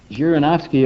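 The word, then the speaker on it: Zhirinovsky: his name janovski thank you thank you right jirinovsky about six or eight years ago was an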